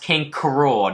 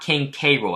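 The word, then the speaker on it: King K. Rool: kind of clarify this his name is pronounced King Coral not King Cairo it's supposed to be like a pun of cruel king cruel so yeah after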